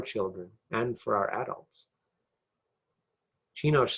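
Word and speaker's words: Csinos: Chinosh. And that's spelled C-S-I-N-O-S.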